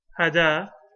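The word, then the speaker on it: هدى: Hada, right? The ya is written like a ya, but it's actually pronounced as an alif.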